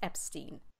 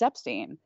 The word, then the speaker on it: Epstein: why he thinks that Brian's last name is pronounced Epstein exactly one of the main arguments for Epstein